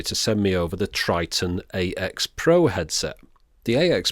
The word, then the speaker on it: Tritton: the world well they should know how to pronounce it if anyone does so Triton it is then even if it's misspelled to